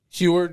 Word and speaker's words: Heward: I got Sam Heward from, I think I pronounced that right. Heward, yeah, so close enough.